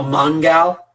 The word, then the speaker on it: Mongal: mongol in the hat mongol spelled g-a-l like gal oh mongal yeah but i'm not